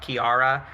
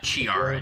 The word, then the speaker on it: Chiara: she still wins uh Chiara just to be very clear Chiara I don't want you mispronouncing my Chatter's names uh also Zach you